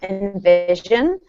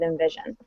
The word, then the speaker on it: InVision: It's spelled INVISION, by the way, because sometimes it sounds like Envision with an E, but it's spelled with an I.